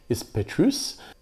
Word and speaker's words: Petrus: So again it's unusual I think because you actually pronounce the S. It's not Chateau. is Petrus.